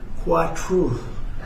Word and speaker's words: Kwatra: We're greatly honored to be joined by the Indian ambassador to the United States, Vinay Kwatra. And it's very nice. You pronounce it perfectly.